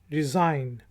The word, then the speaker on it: resign: Word है RESIGN। रिज़ाइन। रिज़ाइन। रिज़ाइन इस्तीफ़ा देने को कहते हैं, और जी साइलेंट है, रिज़ाइन।